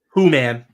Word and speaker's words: Who-Man: you have really ultimately Who-Man, however you say his name. Who-Man. It's literally WHO-man. So it's He-Man, but Who-Man.